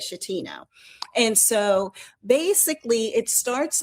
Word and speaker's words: Schettino: And so, but he was Captain Francisco Schettino, I think is how you say it, Schettino.